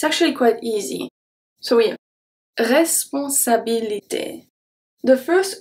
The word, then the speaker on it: responsabilité: So yeah, responsabilité. The first E is pronounced as a E.